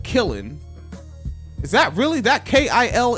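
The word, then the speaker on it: Kiln: it down there but isn't that traditionally pronounced kill like when you have a clay thing and you put it in the kill like that like that special oven for like pottery and to make it hard are you pronouncing the end at the end no oh it's just kill ya not kill him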